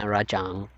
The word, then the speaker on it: Rajang: rang rang rajang yeah rajang so American of him saying rang rajang rajang raang I don't know I call it rajang that's how I pronounce it based on um how it should be no not cool scyth